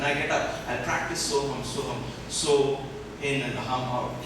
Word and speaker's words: Soham: Just 2 syllables you have to remember, so and hum.